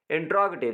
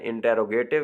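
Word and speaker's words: interrogative: इंट्रोगेटिव sentence, अच्छा ये कुछ लोग इसको गलत प्रोनाउंस करते हैं, इंटेरोगेटिव कहते हैं, तो ये असल इसका जो तलफ़्फ़ुज़ है वो इंट्रोगेटिव है, सवालिया, ठीक है, जो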